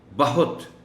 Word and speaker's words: بہت: حکم کریں، وغیرہ وغیرہ۔ بہت، یہ ان الفاظ میں شامل ہے جن کا تلفظ سن کر سننے والے تھوڑا سا حیرت کا اظہار کرتے ہیں، اس لیے کہ ہم عادی ہیں اس لفظ کو بہت بہت کے طور پر پڑھنے کے، یعنی درست تلفظ میں تو بے پر زبر ہے، ہے پر پیش ہے، مگر عام طور پر جس انداز سے اس لفظ کو پڑھا جاتا ہے اس میں بے پر پیش رکھی جاتی ہے اور ہے